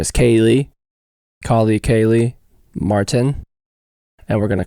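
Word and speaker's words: Kaleigh: Is this at Kaylee Martin? Yes, and you said my name right. What do people think it is? Kylie? Kylie. Oh, Kylie.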